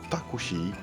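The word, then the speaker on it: タクシー: Ils sertent à écrire les noms prénoms de personnes étrangères ou des mots venant de l'étranger comme taxi ou café qui se prononceront taki et kohi.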